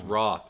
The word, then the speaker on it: Rothe: I always been saying Rothe for all this time because there's fucking E at the end of it, but it's Rothe. She introduced herself as, hello, I'm Jessica Rothe, and I'm going to